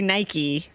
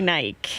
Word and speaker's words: Nike: the my crime that I have been saying the name of the shoe company wrong you guys all say Nike and I say night now when you say